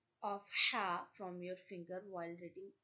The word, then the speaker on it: ح: This is called Ha, Ha. This is pronounced from the middle of your throat.